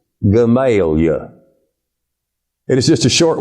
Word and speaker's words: Gamaliel: Missouri, Jeep, Arkansas, and a town whose name is spelled Gamaliel and is pronounced by the natives Gamaliel.